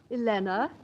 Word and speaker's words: Helena: but what's your name Elena rhymes with Vienna Helena from Vienna